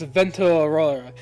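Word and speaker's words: Vento Aureo: We're pronounced not Golden Wind. It's Vento Aurora.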